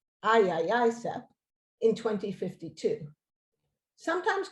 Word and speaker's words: IAICEP: As a first step, ICCEP launched the International Aerosol Injection Climate Engineering Project, the IAICEP, pronounced IAICEP, in 2052.